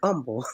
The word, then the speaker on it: humble: humble they'll it'll he'll humble and humble silent h humble he would do he